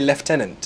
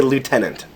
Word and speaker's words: lieutenant: there's a leftenant I think traditionally we say leftenant oh wow lie Lieutenant we would say Lieutenant as in the Army the Army position LT Lieutenant yeah Lieutenant however traditionally in the Army we would say leftenant oh I'm not GNA